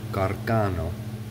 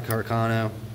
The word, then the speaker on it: Carcano: is a arcano bolt or a Carcano I believe is how it's properly pronounced but anyway we're gonna